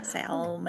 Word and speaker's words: salmon: Another one is when people mispronounce salmon and they call it salmon. Like, really? Salmon. Yeah. Salmon.